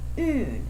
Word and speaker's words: un: They are un and une. UN is pronounced un. UNE is pronounced une.